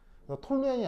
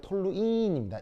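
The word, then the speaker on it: toluene: 톨루엔이 아니고 톨루인입니다.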